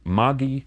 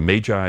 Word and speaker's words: Magi: if we put that into Latin plural it is Maggi Greek plural magoi but in the more familiar English pronunciation Magi these are the figures